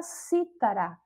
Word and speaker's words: cítara: Exemplo aí, o primeiro exemplo é a palavra cítara, que enquanto aí é proparoxítona, ela é um instrumento musical.